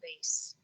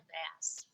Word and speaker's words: bass: bass caught a bass a bass can be a musical uh instrument then it rhymes with face and it rhymes with face it can also be a type of fish then it rhymes with glass and bass how can